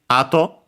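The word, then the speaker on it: 後: Uh, well, in this case there's another ato, but you know, this is the most common one and also based on the context. Uh, okay. Uh, accent on the first mora behind the ear and so on.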